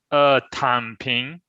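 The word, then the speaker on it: 躺平: Was it Tang Ping? How do you say that properly, Shu? Tan Ping.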